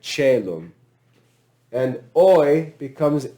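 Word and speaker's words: caelum: So I becomes e, like celum.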